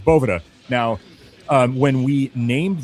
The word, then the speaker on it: Boveda: It's it's Bovetta.